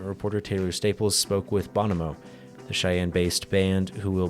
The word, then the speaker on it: Bonamo: Bonamo is the name of your band, right?